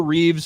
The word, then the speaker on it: Reeve: How about people that add the S to Christopher Reeve name? Reeves. It's Reeve. It's Christopher Reeve.